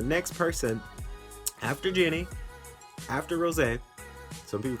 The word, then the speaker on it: Rosé: They say Rose, and I say, some of my friends like, oh, you mean Rose? No, it's Rosé. That's how you pronounce the name.